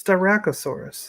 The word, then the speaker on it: Styracosaurus: Can you pronounce that for me? it's Styracosaurus.